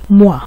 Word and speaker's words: mois: তো মোয়া বানানটা কি হলো, এম এর সাথে ও ই বসেছে, তো ও ই এর উচ্চারণ হলো ওয়া, এই জন্য এম এর সাথে ওয়া যুক্ত হয়ে গেছে মোয়া, ল মোয়া অর্থ মাস।